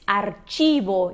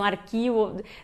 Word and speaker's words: archivo: Bom, se diz archivo, então às vezes as pessoas pensam arquivo, não pensa na hora que é archivo, só que o CH em espanhol tem esse som de tch, então archivo.